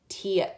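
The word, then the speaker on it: Tea: character okay I think the main character's name is T because that's how it's spelled but then at one point in the book there's a conversation where someone is just meeting her and they spell out the name phonetically and they say it Tia Tia so what's her name Tia or is it T it's spelled like the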